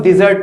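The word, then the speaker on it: dessert: Double S होता है, इसको हम लोग डिजर्ट पढ़ते हैं, डी से, डी, डिजर्ट, ये क्या है, डे से, डेजर्ट।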